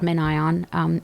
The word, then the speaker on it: MinION: up YouTube videos about MinION. It's by... How do you spell that? MENION? MinION is MIN. MIN. It's like Minion, but there's like a space between and ion.